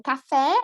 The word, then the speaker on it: café: Só para confirmar, se tem acento, você pronuncia com E. Uhum. Com acento, E. Sem acento, I.